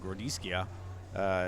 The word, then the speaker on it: Grodziskie: I'm going to get killed if somebody, by somebody if I don't say it the right way, but Grodziskie is actually how it's pronounced.